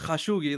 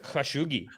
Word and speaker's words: Khashoggi: the uh was it is that how it's pronounced khashoggi yeah everyone's calling him khashoggi no it's called bro that's great thanks man the culture is not the worst the culture needed that correction it was called khashoggi so like when he